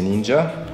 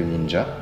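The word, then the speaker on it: 忍者: Le mot qui nous intéresse, évidemment, c'est ninja. Oui. Alors, nin, que tu peux voir ici, et sha ou ja, comme on le verrait prononcer.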